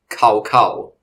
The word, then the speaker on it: Cao Cao: of the Three Kingdoms, you have likely tried pronouncing Cao Cao's name as Cao Cao. And now, after so long, you'll understand that his name was never bovine in nature.